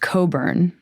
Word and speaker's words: Cockburn: It's pronounced Coburn, which I want you to imagine being a kid.